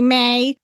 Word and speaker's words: me: It's gonna be May. That because Max Martin was insistent that you pronounce the E as an A.